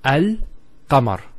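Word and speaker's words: القمر: How do we pronounce this? It's Al-Qamar.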